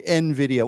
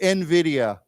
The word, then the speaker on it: Nvidia: but it's we say it Nvidia so it's pronounced that way Nvidia why don't we say it together Nvidia Nvidia okay uh so he donated he and okay